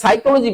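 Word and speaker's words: psychology: তাহলে সাইকোলজি বানানটা আমরা দেখতে পাচ্ছি এখানে পি সাইলেন্ট।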